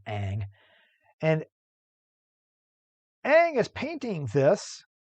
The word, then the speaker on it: Ingres: and by the way i know it's spelled it looks like it should be ingress it's french so his last name is aang and aang is painting